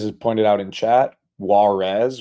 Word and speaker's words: warez: Um, as is pointed out in chat, Warez or I think it's pronounced wares actually wz to the Zen zones was blocked by Barry's play of drama which wouldn't have been blocked by UMAK.